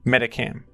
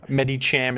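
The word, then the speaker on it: Medicham: my favorite Pokémon in this metag game is meta Cam and I know I I pronounced this name incorrectly but it's how I've pronounced it since I was a kid so Med Cham is the correct pron pronunciation but it's hard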